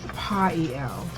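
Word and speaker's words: Poiel: I was the angel that who will help you obtain fame and fortune is Pael, and it's spelled P-O-I-E-L, and he's in the 72 Angels of Magic.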